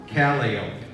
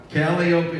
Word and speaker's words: Calliope: Calliope not Calliope Calliope is the circus pronunciation for the instrument so let's all try to say it like a circus person Calliope how they know